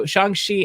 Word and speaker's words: Shang-Chi: good because you're our resident expert um so shangshi and the legend of the ten rings did